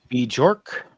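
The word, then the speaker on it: Björk: Bjork, 60, pop singer.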